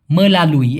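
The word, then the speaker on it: melalui: মেলালুই, এখানে রস্যই না দিয়ে অন্তস্থায় রস্যি দিলে আরও উচ্চারণটা ভালো হয়, মেলালুই, এরকমটা মাধ্যমে।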